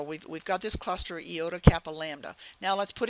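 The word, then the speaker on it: iota: so repeat after me eota Kappa Lambda does it help to remember e yikes a cap on a lamb repeat after me eoda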